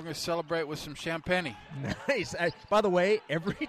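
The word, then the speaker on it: Champagnie: Every time I see the name and then that it's pronounced champagne, I immediately think of the Continental on Saturday Night Live.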